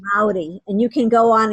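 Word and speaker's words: Māori: I mean, just for that, because it's about honoring, So if you, so it's Maori. So the R is like a D. So Okay. it's Maori, and you can go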